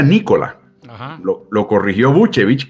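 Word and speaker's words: Nikola: mundo le llama el nicola su nombre se pronuncia nicola lo lo corrigió mucho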